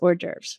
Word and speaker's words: hors d'oeuvres: I just want you to know that the correct way to pronounce this word is hors d'oeuvres, right?